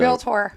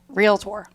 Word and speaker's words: realtor: well i can't even say realtor right so real tour real quick tour tour gotta say it like